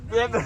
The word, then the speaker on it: benvenuti: Say welcome. Bienvenuti or something. How do you say? Benvenuti. All right, benvenuti, welcome.